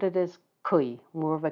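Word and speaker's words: 癸: And these are pronounced jia, yi, bing, ding, and I'll try to be very careful with those two because they're very close together in pronunciation. Wu, ji, geng, xin, ren, and kui.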